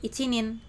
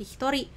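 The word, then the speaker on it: 一人: Nah, ichi ini ditambah dengan nin tidak menjadi ichinin. Loh, kenapa sensei? Kenapa malah jadi hitori?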